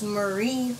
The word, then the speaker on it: Marie: I almost said Mary. I keep saying that. It's Marie Ray. Maddie and Marie.